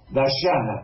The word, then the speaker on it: Dayana: Depende de cómo pronuncien ustedes la Y. Nosotros pronunciamos Ye, Dayana.